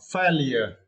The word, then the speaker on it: failure: You should pronounce failure. Yeah, and you need to stress the first syllable.